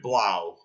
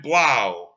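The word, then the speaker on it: Blough: the name of David blob that would be BL ough I believe that's how you pronounce his name nobody really knows too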